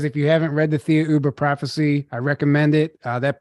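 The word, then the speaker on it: Thiaoouba: Theoba is pronounced as Jehovah in French, and similar to the word Jehovah.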